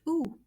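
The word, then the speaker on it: où: So you see that it is pronounced ou. So the O and U combined are pronounced ou. So the accent grave doesn't change the pronunciation of ou.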